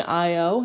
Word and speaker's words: Io: measurements of Jupiter's moon Io it's literally just like IO I know that's how it's spelt but it's also how it said I hope I only